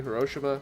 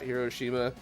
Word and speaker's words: Hiroshima: you're supposed to say hiroshima not hiroshima like the first couple of people to do it would do it with that like i'm better than you in their voice and it's just like so i just assumed i was like wow maybe they're right maybe maybe it's a different pronunciation yeah it would be